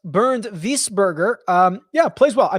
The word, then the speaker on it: Wiesberger: want my cash game opinion whisper or properly pronounced bernd wiesberger um yeah plays well i mean he won